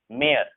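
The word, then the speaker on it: mayor: इसे हम पढ़ते हैं प्रेयर, मेयर, ठीक है ना। य वाई जो होता है साइलेंट होता है इसमें, मेयर इसे पढ़ा जाता है, मेयर। ओ आता है, य नहीं आता इसमें, मेयर, प्रेयर।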